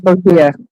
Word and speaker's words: Botia: Do you pronounce it like Botia? Yeah, it's Botia. I'm Yeah. fairly certain it's Botia.